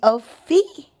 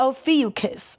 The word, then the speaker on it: Ophiuchus: We'll get into it, but it is called the Ophiuchus.